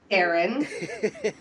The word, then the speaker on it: Daeron: I was like, no, it's actually Daeron.